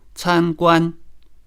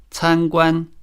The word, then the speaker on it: 参观: For example, 参观 can be pronounced with both syllables in the first tone. 参观 meaning to visit. But it can also mean a restaurant if the second syllable is changed to the third tone, 餐馆.